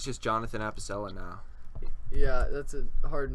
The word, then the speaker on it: Apicella: Oh God, Apicella is spelled. Appicella. There's not actually a second P. It's Oh, Apicella, and he has a second channel that's the Leaf Clips, and oh yes.